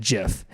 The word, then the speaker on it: GIF: still employed by CompuServe Steve always pronounced it jiff and would correct those who pronounced it with a hard G choosy developers choose jiff